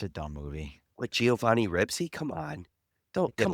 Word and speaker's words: Ribisi: Ribisi, Not alright, my Ribsy.